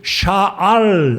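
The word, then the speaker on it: שָׁאוּל: 변했다서 작은 자라 그러는데 그 헬라 발음인 거 같고요 히브리어 발음으로 사울은 샤알 왔는데이 말은 구했다 구해서 얻었다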